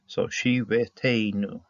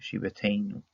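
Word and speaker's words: שביתנו: What they want here is that this vav really should be pronounced as a yod with the hirik. So shiveteinu. Okay, shiveteinu.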